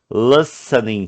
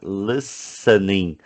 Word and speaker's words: listening: Playing mobile or celular games, listening to music. Olha o verbo ouvir, né? Listening. Não fala o T. Tá vendo esse T aqui, ó? Ele é mudo, né? Por isso que eu escrevi entre barras.